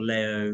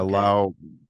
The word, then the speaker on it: Lao: Is it Lao or Leo Russell? Uh, it's pronounced either way, but yeah, Lao usually is the pronunciation that more in the